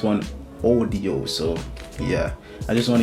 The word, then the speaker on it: OneOdio: It actually pronounced OneOdio instead of audio. I've been saying OneOdio the entire video, and sorry for butchering the name of this. It's actually pronounced OneOdio.